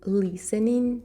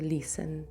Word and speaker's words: listen: I am listening to music. I am listening to music. Літера Т не читається у слові listen.